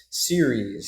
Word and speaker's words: Ceres: Am I pronouncing that correctly? Series. Ceres. Yeah. Ceres.